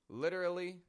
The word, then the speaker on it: literally: difference is too subtle between literally and literally literally literally it's not your fault your ears might